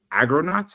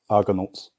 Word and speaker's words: Argonauts: it is the unbreakable agronaut I would like to say issue one IA so how is it pronounced Argonauts Argonauts yeah so so so so